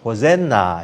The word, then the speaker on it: 호산나: 이제 구원하소서이 말이 바로이 호산나라는 말입니다 영어로 우리가 호젠나 이렇게 발음을 하는데 호시아 나라는 말입니다이 호시아라는